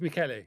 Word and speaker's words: Michele: Did I say that right? It's Michele.